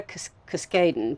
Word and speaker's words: Cuskaden: I'm here with Editorial Director from Entangled Publishing, Cuskaden.